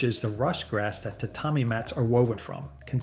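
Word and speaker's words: 畳: This one has two parts, the tatami and the igusa, pronounced tatami and egusa.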